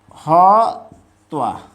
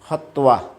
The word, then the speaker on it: হত্বা: তো সংস্কৃতে এটাকে উচ্চারণ করা হয় হত্তোয়া। হত্যা বললে ঠিক নেই, হত্তোয়া।